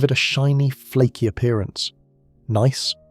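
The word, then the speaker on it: gneiss: Nice, pronounced nice, is a high-grade metamorphic rock with alternating bands of light and dark minerals giving it a striped appearance.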